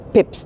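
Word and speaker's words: Pepys: it's a bit less lorry I am on pep street by the way well Pips technically because it's after Samuel Pips so p s Pips it's spelled Pepes but it's pronounced Pips tar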